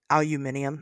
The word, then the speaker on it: aluminium: Um, isn't it crazy that we say aluminum and the British say aluminium? Actually, the whole rest of the world aluminium says aluminium, right?